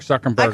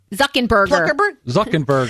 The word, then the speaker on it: Zuckerberg: because it offended someone you're talking about Mark Zuckerberg of a little Jew from Harvard little maybe